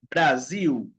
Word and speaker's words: Brasil: medio o al final, se pronuncia la L como la U. Por exemplo, final, final, final, Brasil Golpe.